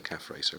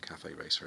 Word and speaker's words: Cafe Racer: a cafe racer frame i normally say calf racer but apparently you pronounce it cafe racer if it's the harley um so the calf